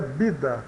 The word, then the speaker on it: vida: letra V né então o v tem o som de b de bola eh no início de uma palavra eh soa claramente como B né Por exemplo a palavra vida espanhol pronuncia bida bida né significa vida vuelven